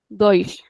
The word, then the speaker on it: dois: Whenever we have s at the end of the word, then everyone will pronounce it as a soft s.